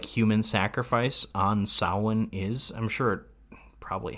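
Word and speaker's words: Samhain: pronounced the word correct he pronounced the word correctly Sawan Donald Pleasence in Halloween 2 looks at that word written on a chalkboard and it's like Sam Hayne and it's like no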